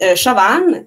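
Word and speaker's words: Siobhan: Puis, il rencontre Chauvan, qui s'écrit S-I-O-B-A-H-N, c'est un irlandais, fait que ça ne se prononce pas comme ça s'écrit, puis vice-versa.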